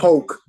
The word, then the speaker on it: Polk: County or Polk County what's the Annunciation pronunciation poke p-o-l-k so they like poking